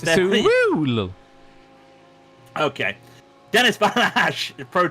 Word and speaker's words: Sewell: Matthew Sewell, or as Harry pronounced it, Sewell. No, it's Sewell.